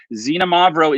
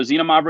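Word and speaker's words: Xinomavro: it's a different grape so xenomorph is the name of the grape yes you pronounce the x like a z and it is lighter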